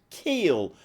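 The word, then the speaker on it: Kiel: very much Alex and apparent ly it's pronounced Keel uh Keel uh at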